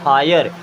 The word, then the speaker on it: hire: एंड HIRE हीरे, हीरे नहीं पढ़ेंगे, क्या पढ़ेंगे हायर, हायर मीन्स होता है किराए पर लेना, जैसे टैक्सी हायर करते हैं ना।